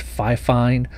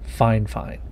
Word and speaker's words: FIFINE: and yes i know you've probably heard people pronounce the name of this company as fi fine but according to them it's fine fine they reached out to